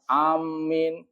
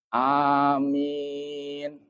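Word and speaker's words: آمين: Berarti bacanya bukan amin a-nya enggak masuk ke huruf mim. Jadi ada dua bacaan bisa dipanjangkan amin. Anyya mad badal, mimnya mad arid lis sukun. Berarti yang benar amin.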